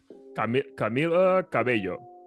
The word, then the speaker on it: Camila Cabello: Camila Cabello. Yep, we'll go with that. We'll be the first ones to pronounce it correctly.